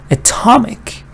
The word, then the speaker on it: atomic: oh Adam ah now look at this one Atomic now stress is not here so the first vowel is now a schwa you don't want to start with a anymore here you start with a and under stressed part you go really up and you say the ah sound that you